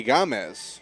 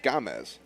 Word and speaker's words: Gamez: in this game anthony anthony gomez not gomez gamez so anthony gamez will step